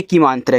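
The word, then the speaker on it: came: ए का उच्चारण ए की मात्रा के रूप में होता है। तो यहां पे ए की मात्रा के रूप में एम से आप कॉमा और लास्ट वाले इ का उच्चारण नहीं होता।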